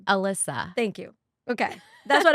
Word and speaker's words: Elyssa: I say it but I say it Elisa because that's the Spanish way to pronounce it but please everybody if